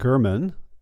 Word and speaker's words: German: couple Bob and Fran German uh spelled g r m-- an but pronounced with a hard G as in G and they're in their